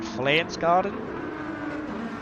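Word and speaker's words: Pflanzgarten: That section of the track is called, is it Flansgarden? I know their whole PF thing, they just pronounce it as F.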